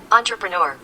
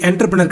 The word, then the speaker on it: entrepreneur: ஸோ இது என்டர்பிரினர் கிடையாது, entrepreneur. அதுதான் இதனுடைய சரியான உச்சரிப்பு அப்படிங்கிறத நம்ம இப்போ கற்றுக்கிட்டோம்.